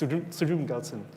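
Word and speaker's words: Tsultrim Gyaltsen: Rinpoche pronounced it very quickly, so it's Sultrim Gyaltsen.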